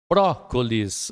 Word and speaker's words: Brócolis: Brócolis, olha a sílaba forte, ó, bró.